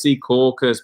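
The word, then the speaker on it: Secaucus: We know it's sea caucus, but it looks on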